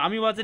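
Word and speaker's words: amoeba: अमीबाची spelling बरोबर लिहा ए एम ओ आणि वाचायचं अमीबा लिहायचं अमोयबा अमोबा लिहायचं आणि वाचायचं काय अमीबा लिहायचं अमो इबा अमोबा काय वाचायचं काय लिहायचं अमोबा वाचायचं अमोबा आणि वाचायचं अमीबा शाबाश लिहायचं अमो इबा वाचायचं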